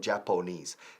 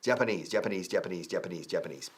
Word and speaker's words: Japanese: Yeah, a friend of Peter's, apóstrofe S aquí, also wants, también quiere o desea, wants to learn Japanese. Fijaos en la pronunciación, no Japonese. Japanese.